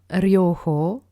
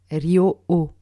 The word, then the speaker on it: Ryoho: Reiki et non Raiki, et enfin Ryoho et non Ryo-o. On a tendance à ne pas prononcer le H, mais il est présent et il a son importance dans la sonorité du mot.